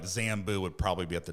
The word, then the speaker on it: Zambu: I'm like buzz button the Z from Zoom Beto I'll drop the J add the Z literally made my own word zamboo but I'm like five letters two syllables very easy to remember